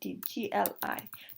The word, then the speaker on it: gli: to be lee student gli to pronounce li just to go with the tip of the tongue touch the palette and then put your tongue flat again to to normal standard position um they are good